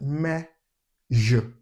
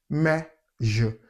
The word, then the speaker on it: measure: It's not mayo, because I've heard a lot of people pronounce it as mayo. It's pronounced measure, measure.